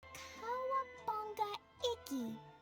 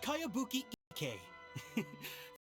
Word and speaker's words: Kayabuki Ike: By Kawabunga Iki. Yoimiya, this is a really strange name. Who's this Kawabunga? It's pronounced Kayabuki Ike.